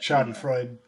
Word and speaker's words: Schadenfreude: How do you pronounce that? But Schadenfreude.